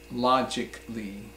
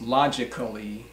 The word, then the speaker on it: logically: Or so another example is logically, logically. It is not pronounced logically, but logically.